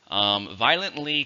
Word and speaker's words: violently: It has 4 syllables, stress on the first, but it has 3 if you say it quickly, violently.